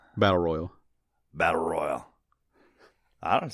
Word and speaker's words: Battle Royale: Battle Royale? Battle Royal. Battle Royale. It sounds fine. Doesn't sound any weirder than Battle Royale. Well, Royale sounds stupid, but that's how you say it.